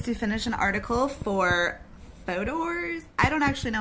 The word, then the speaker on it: Fodor's: I polled three of my friends, and the consensus is it rhymes with folders. It's like the Kentucky pronunciation of folders, like Fodor's.